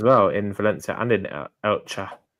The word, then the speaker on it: Elche: It's the same shop as well in Valencia and in Elche. How do you say that? Is it Elche? Elche.